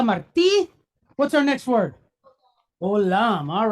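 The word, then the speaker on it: עולם: Olam. All right, so we have agin, silent letter, but it's pointed holemwa. So that group right there gives us the sound O.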